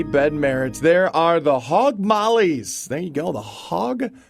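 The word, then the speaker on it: Hogg Maulis: s the hog mollies it's more like mollies I guess it would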